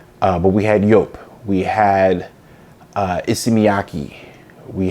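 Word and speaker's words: Joop!: things like uh curve we had well we pronounce it jup it's actually pronounced yope uh but we had yope we had uh iyaki we had the DOL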